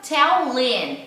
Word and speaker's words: tell him: O tell him vai ficar, ó, corto o H e fica tellin.